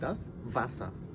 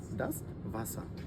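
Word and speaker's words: das Wasser: মানে হচ্ছে রাইস পানি এবং এটাকে আমরা বলি ডাস ভাসা যেহেতু এটা ডবলিউ ডবলিউ আমরা জারমানে এর মত উচ্চারণ করি তো সেক্ষেত্রে উচ্চারণ হবে হচ্ছে সঠিকভাবে ডাস ভাসা ইন্টারেস্টিং এখানে দেখবেন পানির সামনে একটা স্ট্রবেরি আমরা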